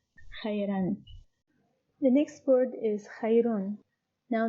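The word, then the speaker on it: خيرٌ: The next word is khayrun. Now the same word, which is khayr, but it is ended now by Tenween al-Dam.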